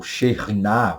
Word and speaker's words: Shekinah: Que Shekinah, ou Shekhinah, como alguns costumam dizer, é a presença de Deus que, às vezes, não sentida, nem vista visivelmente, está acontecendo.